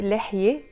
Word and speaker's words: لحية: So that's why لحية alone, we don't pronounce a te marbuta.